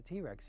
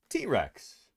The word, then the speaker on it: T-Rex: I'm talking about here the way that he says T-Rex he said T-Rex and not T-Rex the emphasis was on a different syllable you know he's emphasizing